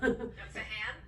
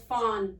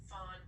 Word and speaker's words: Fahan: Fahan? No, it's Fahan. Fahan. The Fahan. H is silent. Fawn? Yep. Yep, okay. You got it. Fawn.